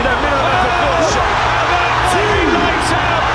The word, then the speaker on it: Usyk: We have one heavyweight champ of the world, and his name's not that hard to pronounce. Even Teddy Atlas might get it right. Usyk. Usyk. Usyk.